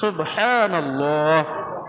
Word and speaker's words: সুবহানাল্লাহ: মাশাল্লাহ সুবহানাল্লাহ বলেন সুবহানাল্লাহ সুন্দর করে বলেন সুবহানাল্লাহ এখান থেকে হা টা উচ্চারণ করবেন আলহামদু হা সুবহানাল্লাহ সুবহানাল্লাহ সুবহানাল্লাহ আলহামদুলিল্লাহ বিজ্ঞান